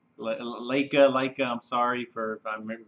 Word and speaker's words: Laika: mean okay first off I think he's pronounced Leica Leica Leica I'm sorry for